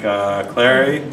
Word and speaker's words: Clari: I want to thank Clari for sponsoring tonight. Said it right. I pronounced it right.